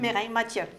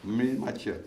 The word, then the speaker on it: Mireille Mathieu: Mireille Mathieu. Mireille Mathieu.